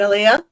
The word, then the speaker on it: Aliya: And Aliya?